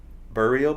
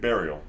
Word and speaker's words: Burial: Have you heard uh Burio before? Spell it like burying someone. Like burial. Burial. B R I L.